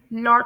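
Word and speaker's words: lot: Next word है जिसे British English के अकॉर्डिंग लॉट प्रोनाउंस किया जाता है। शॉर्ट राउंडेड ओ की साउंड आएगी यहां पर लॉट और अमेरिकन इंग्लिश के अकॉर्डिंग इसे प्रोनाउंस करेंगे लाट बिल्कुल फुल लाट नहीं बल्कि ब्रॉडर आ की साउंड आएगी ब्रॉडर ए की साउंड लाट।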